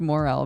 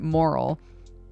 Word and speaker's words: Morel: And I liked Morel, but I just pronounced it Moral.